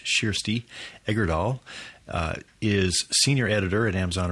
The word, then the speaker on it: Kjersti Egerdahl: Kjersti, her name is spelled Kjersti, and it's pronounced Kjersti Egerdahl, is senior editor at Amazon Original Stories and imprint of Amazon Publishing.